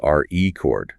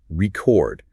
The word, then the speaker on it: record: I am setting a new world re chord. Got it? But if I push the stress to the second syllable record, it suddenly transforms into a verb.